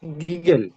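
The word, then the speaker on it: gargle: যে what, গিগল, গিগল না, কি এটা হচ্ছে গাগল। কি হবে? আর যেটা এটা সাইলেন্ট থাকবে, গাগল, কুলি করা।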